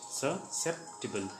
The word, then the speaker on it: susceptible: Pronunciation is susceptible. Susceptible.